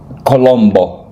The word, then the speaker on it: Colombo: Uh Colombo.